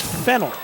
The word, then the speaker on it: Fennell: It's spelt Fennell. We would remember Fennell in Canada for that Dave Fennell, the great defensive lineman for Edmonton. But I was told today that it's pronounced Fennell by Michael Cohen, the play-by-play radio man of the New Jersey Jackals.